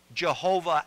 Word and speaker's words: Jehovah: The Germans were the ones who pronounced it Jehovah, and I believe the reason why is because a Y in German has a hard sound instead of a soft sound, and that's where you get Jehovah from.